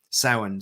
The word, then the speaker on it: Samhain: So a lot of you were wondering, how do you pronounce that? Samhain.